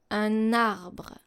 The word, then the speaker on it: un arbre: Un and arbre becomes un arbre. Un arbre.